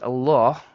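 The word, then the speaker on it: الله: One last thing about the word Allah, which is the last ha in the word Allah, is often not pronounced by many. And I'm hoping this is because of unintention. So this ha comes from the bottom throat, as we discussed in point number 3. And you have to pronounce it.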